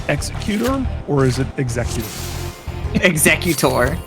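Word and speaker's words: Executor: Exeutor. It's It's Exeutor.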